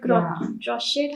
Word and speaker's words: crochet: So, apart from mandalas, I saw those beautiful earrings you make and that crochet. How do you pronounce it?